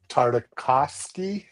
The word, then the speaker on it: Tartakovsky: No, because I'm not going to try to pronounce his last name. Tartakovsky, is that right?